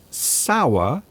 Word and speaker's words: sour: Can you please pronounce the differences between sour and shower? Sour, shower, sh, sh, sour, shower.